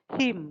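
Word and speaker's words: hymn: हीम लिखा जाता है HYM, लेकिन करेक्ट प्रोनाउंसिएशन कुछ इस तरह से होता है हीम।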